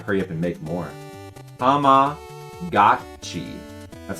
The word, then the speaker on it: Tamagotchi: I just changed my pronunciation. It is gochi. Goat cheese. Yeah, that would make sense because that's how they pronounce G-O. It's go. It would never be ga.